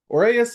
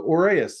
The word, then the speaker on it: Orias: So Orias is usually how I will pronounce this. It's the most common one I've heard too.